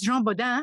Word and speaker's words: Jean Bodin: they were busy talking about science of course Jean bodan and your pronunciation was perfect is principally known as a